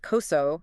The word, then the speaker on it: COSO: Existing standards like COS, and that's pronounced COSO for anyone taking notes, they're incredibly valuable, but they generally stop at two things: intent and structure.